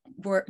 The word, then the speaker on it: wo: So the W word, the letter, the W, is not pronounced like the English W, but it's pronounced, it's called labiodental, which means your upper teeth need to touch your lower lip.